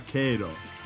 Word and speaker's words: Cairo: Tuttavia, la gente del posto non tarderebbe a ricordarti che il suo paese si pronuncia Kay-ro.